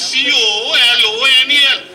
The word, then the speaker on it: colonel: Colonel, the spelling is C-O-L-O-N-E-L, colonel. No, colonel. Lieutenant, L-I-E-U-T-E, and it's necessary that you should be good at pronunciation.